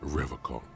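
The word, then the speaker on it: Revachol: But someone has to stay strong for Revocol. He pronounces Revocol with a hard K, unlike other people.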